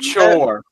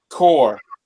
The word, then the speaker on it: Chor: How about Chore? I've never heard of them before. Never heard of them. What is it? Chore? CHOR. Yeah, I'd look that brand up and see. Oh, excuse me, Core.